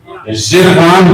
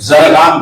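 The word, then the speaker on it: ضرغام: زرغام بھی اس کا تلفظ درست ہے، زرغام بھی درست ہے، لیکن یہ تو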